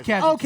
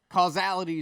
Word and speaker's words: casualty: Yeah, it is casualty. Okay, he's saying it wrong. Okay. No, causality is something very, Causality is very something very different.